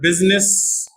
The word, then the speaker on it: business: Asin I silent and in the word business also eyes silent but exception that was